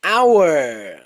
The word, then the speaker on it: hour: This is hour. Okay. An hour for lunch. Okay. In this word, H is not pronounced.